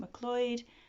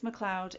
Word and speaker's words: McLeod: the Carnelian Fox by Kate mccloyd this McLeod it's McLeod every time I put this on a TBR I pronounce the name wrong it is Kate McLeod and um yeah I